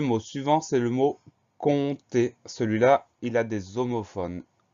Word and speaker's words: compter: C'est un P muet, un P qu'on n'entend pas, mais il est bien présent.